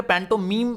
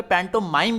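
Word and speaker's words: pantomime: ये जो देखिए मैं क्लियर कर दूं, ये पैंटो मीम इसको पढ़ते हैं, कई जगह पे पैंटो माइम भी पढ़ा जाता है, ठीक है।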